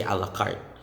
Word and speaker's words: a la carte: just need a burger say a la carte next is a la